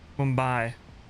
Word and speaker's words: Mumbai: simulations 787 nash9 Jet Blue to mbay gotcha Mumbai that's how you say it Jet Blue I'm